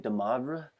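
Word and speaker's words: de Moivre: And that's, I guess, how I say the gentleman's name, DeMoivre.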